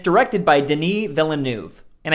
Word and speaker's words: Denis: And it's directed by Denis Villeneuve. And I think that's how it's pronounced. I don't think it's Dennis.